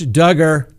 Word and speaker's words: Duggar: docket that's right josh duggar all right for those who don't like it here it comes close your ears rhymes with hugger well his trial may